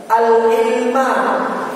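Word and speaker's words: العلم: Allah, telah menjadikan dia al-ilma, ini jadi objeknya pada ilmu. Ja'ala itu fi'il, kata kerja, ya. Kalau al-ilma, kenapa tidak al-ilmi, tidak al-ilmu, gitu. Kenapa al-ilma? Karena jadi objek, maf'ulun bihi, harus fathah, gitu, ya.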